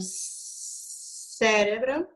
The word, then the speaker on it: cérebro: Então, eu tenho cérebro, pantano, oxígeno, nostalgia, alergia, epidemia e síntoma. Qual que é a sílaba tônica que você vai sublinhar em cérebro? Cérebro, re.